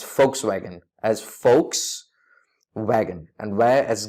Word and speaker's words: Volkswagen: mispronouncing this name as Volkswagen unfortunately this German car makers brand name is not pronounced as Volkswagen but as folks wagon as folks wagon and